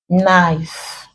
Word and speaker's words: knife: is not pronounced there when consonant K or letter K rather comes before letter N at the beginning of a word the K is usually silent so in this words